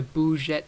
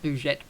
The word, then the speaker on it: Le Bourget: It'll probably be back at the Le Bourget airport. Not Bourget, Bourget.